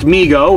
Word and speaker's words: Mego: who cares moving on migo pronounced migo which is true uh was started by